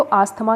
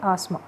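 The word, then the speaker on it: asthma: किसका, इसको देखो, हिंदी में तो आस्थमा कह देते हैं, लेकिन इंग्लिश में जो इसकी प्रोनाउंसिएशन होती है वो होती है आस्मा। क्या प्रोनाउंसिएशन होगी, आस्मा होती है इंग्लिश में, और हिंदी में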